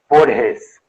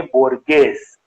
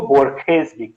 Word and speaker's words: Borges: होर्हे Louis बोर्हेस, BORGES, जिसको साधारण अंग्रेजी में हम पढ़ेंगे बोर्गेस, लेकिन चूंकि वो स्पेनिश थे और लैटिन अमेरिकन स्पेनिश थे, इसलिए उनके नाम का उच्चारण हुआ बोर्हेस। स्पेन में उनको बोर्खेज भी कहा जाता है, यानी कि स्पेनिश मतलब